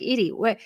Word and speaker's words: Eddie: It's spelled like terrible. Eddie and it's pronounced like Edie.